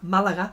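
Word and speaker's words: Málaga: in Malaga Malaga Malaga Malaga sorry the accent is on the first a um here in Malanga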